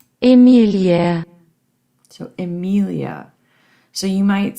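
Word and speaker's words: Emilie: If I saw it in English, I would pronounce it Emily. Well, let's listen to what it sounds like in German. Emelia.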